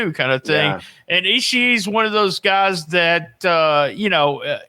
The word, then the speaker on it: Ishii: you listen to the crowd when they're chanting Ishii. Ishii. That is his last name. That's the way you pronounce it.